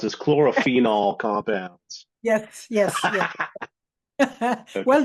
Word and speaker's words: chlorophenol: lot of faith in me being able to pronounce it chlorophenol compounds yes yes yes well done John you